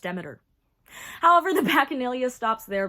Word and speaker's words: Demeter: Yes, it is pronounced Demeter.